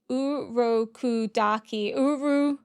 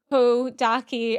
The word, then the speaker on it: Urokodaki: Urokodaki. Urokodaki. I'm probably gonna butcher that. I am literally looking at how to pronounce it, and it's like Urokodaki.